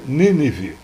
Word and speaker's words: Nínive: vive Esparta thebas nínive a pronúncia correta seria nível antiga cidade da assíria mas fazendo uso novamente Dá licença poética já mencionada o poeta desloca o assento para o verso rimar com a flexão verbal revive do verso anterior